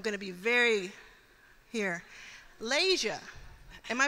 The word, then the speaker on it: Layshia: this time I'm going to be very here lasia am I pronouncing your name correctly yes lasia lasia it's